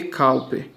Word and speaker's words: Cowper: Não é, se escreve Cowper, mas se lê Cowper.